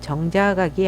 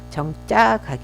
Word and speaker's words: 정자각: 이제 정자가 게 있습니다 이거는 발음을 정작 아기 아니고 정자각 입니다 왜냐하면 이 정작 가기